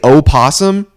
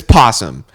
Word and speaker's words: possum: Same with possum. People that say osum, screw you guys. Okay, it's possum. I don't I don't even spell it with the O anymore at the beginning.